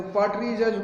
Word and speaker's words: partridges: जो पार्टरीजस को हिंदी में हम कहते हैं तीतर, पार्टरीजस इसका करेक्ट प्रोनाउंसिएशन है PARTRIDGES, पार्टरीजस।